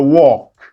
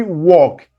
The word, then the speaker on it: walk: 12, going for a walk. Everybody walk. L is silent.